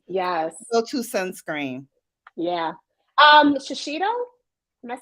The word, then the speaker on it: Shiseido: Shiseido?